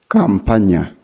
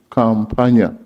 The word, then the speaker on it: Campagna: Campagna. Campagna. In case you forget Campagna, you remember someone pronouncing Kampala. Then you change Nya.